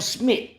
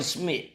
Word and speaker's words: Smith: His name is Smith. And he ain't say, hey, Nah, his name is Smith.